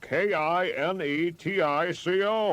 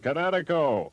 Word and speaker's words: Kinetico: You should have remembered kinetic as in kinetic energy with an O on the end. Kinetico.